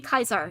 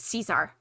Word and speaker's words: Caesar: pronounce latin words faithfully like saying kaiser instead of caesar yes i do i'm afraid i'm that's